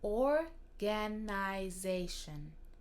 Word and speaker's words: organization: Même si c'est le même mot en français, ça se prononce différemment. Alors, quelque chose qui peut vous aider, c'est de mettre un peu plus d'importance, c'est de souligner un peu les premières trois lettres, comme or.